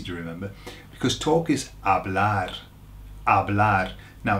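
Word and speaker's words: hablar: remember because talk is AB now bear in mind that the H is silent here when words start with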